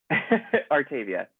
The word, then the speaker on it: Artavia: And last but certainly not least, Artavia. Did I pronounce that correct? I didn't do a pre-screening. Artavia, it's fine.